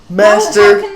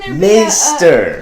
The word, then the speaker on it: Maester: Master Maester. How can there be a correct pronunciation for a made-up word?